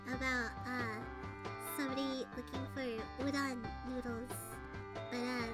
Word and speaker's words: udon: uh somebody looking for udon noodles, but uh they didn't know how to pronounce udon, so they're calling them undo undo the noodles.